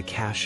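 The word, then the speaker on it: cache: for hiding place and the e at the end is silent for example the robbers found a cash of stolen jewelry how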